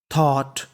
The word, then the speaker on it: thought: मूसा थॉट, THOUGHT, इसे पढ़ना है थॉट। देखिए इस मीनिंग के आखिरी में लिखा है GST, और मैंने आपको बताया था कि GHT को पढ़ते हैं टा, क्या पढ़ते हैं टा, और शुरुआत में लिखा है THOU, तो मीनिंग बन गई थॉट।